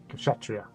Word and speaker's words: Kshatriya: Kshatriya, that's it.